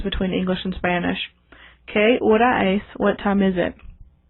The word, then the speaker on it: hora: H's in Spanish are silent, so let's pronounce la hora.